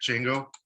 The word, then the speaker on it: Django: is well what is django can someone maybe give me like a real quick rundown on what they're familiar with it yeah i i the d is silent i'm working on it